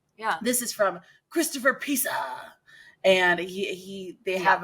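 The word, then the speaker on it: Piazza: they have a yatza Piaza Piaza no it's Pizza it's Pizza your last name is pizza it's spelled p i a zza is pizza it just has an unnecessary a in there anyway Christopher says love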